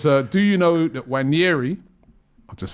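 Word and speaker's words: Nwaneri: Jay Federer J says Ethan did a video with Sky explaining his name, and he didn't say it like the Nigerian bro in the studio. no, he didn't. He said Ethan Wanyeri.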